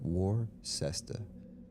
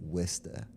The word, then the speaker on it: Worcester: It's spelled Worcester. How do you get Worcester?